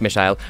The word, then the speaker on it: Michele: alone by Michele schulter spelled Michael pronounced Michele representing Germany in this year's